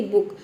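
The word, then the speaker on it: book: करना है ठीक है तो देखिए जब किसी वर्ड में डबल ओ के बाद क्या हो के हो तो हम छोटी ऊ की मात्रा में डबल ओ को उ प्रोनाउंस करेंगे जैसे कि बड़ी जैसे कि बुक बुक का मतलब होता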